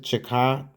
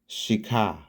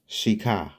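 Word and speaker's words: Chicot: Some some pronounce it Chicat County, but the correct pronunciation is Shika. Shika. So, it's the Shakah County Race War of 1871.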